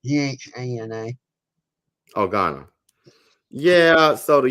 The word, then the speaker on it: Ghana: Am I pronouncing that correctly? Ghana.